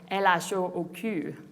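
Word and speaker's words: L.H.O.O.Q.: with the provocative title elasho pronouncing the letters together in french produces a sentence that is often translated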